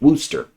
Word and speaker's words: Worcester: about wster V Georgia I know it's weird but that's pronounced wster and was about how